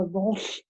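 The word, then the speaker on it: L'Arche: I've been working with the community that my dad is involved with, who is the director of the Walsh community. It's spelled capital L apostrophe capital A-R-C-H-E.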